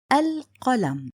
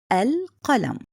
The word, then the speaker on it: القلم: Second point, written and spoken. I wrote it and I also pronounce it. Listen carefully. القلم. القلم.